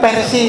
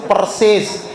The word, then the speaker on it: Persis: Islam ya singkat dengan persis jangan disebut persis entar di manahi oleh mutamirin yang lalu kita dimarahi mutamin ganti bukan persis yang bener tuh persis bukan versi yang betul itu persis singkatannya persis gitu ya